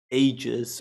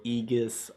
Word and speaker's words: Aegis: I I believe it's actually like English. In English, it's actually like ages.